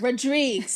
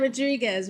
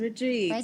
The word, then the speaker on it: Rodrigues: Rodrigues. It's not Rodriguez. Rodrigues. Rodrigues.